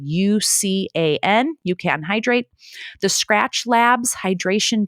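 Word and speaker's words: UCAN: you know berries or things like that that you can oranges for example um that you could just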